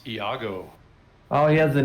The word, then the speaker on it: Iago: any Servo skull it's Iago oh he has the name now yep it's one a 1 a g0 1 a60 pronounced Yago um and so yes